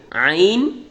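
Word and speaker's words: ع: আইন এবং গইন, আইন এবং গইনের মধ্যে পার্থক্য হলো নক্তা। আইন হবে খালি, আর আইনের উপর যদি এক নক্তা থাকে তাহলে সে গইন। আইনের উচ্চারণ হবে শক্ত, গইনের উচ্চারণ মোটা।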